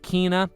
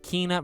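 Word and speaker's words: Kena: wait same thing with kina which is how you say it by the way not kenna kina bridge of spirits which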